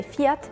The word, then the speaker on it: Fiat: said though this is general say fiat in English we say fiat in Sweden we say fiat in Spanish we